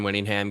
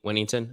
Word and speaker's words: Whittington: just Xavier worthy like Jordan Winningham gets or uh yeah Woody Winnington that's how you say it actually um is